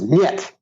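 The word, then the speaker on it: нет: And no is niet.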